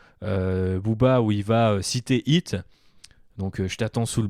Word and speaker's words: Heat: Heat demande aussi de prononcer le H aspiré, sinon ça se prononce Hit, comme le truc avec le clown.